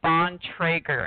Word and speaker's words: Bontrager: a turn on trigger the last name is pronounced on Trager and it's 100% Old